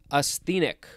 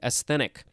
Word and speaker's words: asthenic: Next we have asthenic, or no, asthenic. I don't think it has a long E, asthenic.